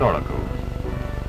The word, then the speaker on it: auricle: First we have the right and left auricles. It's spelled with an A, but the phonetic O helps to keep the word auricle in the boy's mind.